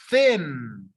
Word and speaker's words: thin: Don't forget the TH. Thin.